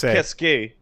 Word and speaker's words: qu'est-ce que: Which is pronounced qu'est-ce que.